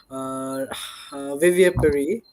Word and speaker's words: vivipary: Okay, so vivipary, is that how you pronounce it?